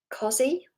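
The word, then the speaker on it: cossie: It's definitely pronounced as a Z, but I think it's spelled with an S, and I'm sure it's a double S, cozy.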